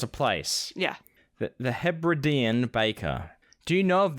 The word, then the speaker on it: Hebridean: The Hebridean Baker? Is that what it is? The Hebridean? Or is it pronounced something else? Very close, Hebridean.